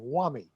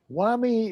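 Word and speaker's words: WAME: pronounce for example there's an organization called the world association of medical editors also known as acronym women easy w-a-m-e whammy whammy is an egalitarian organization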